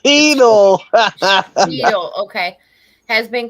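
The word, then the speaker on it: Cheatle: It's Cheadle.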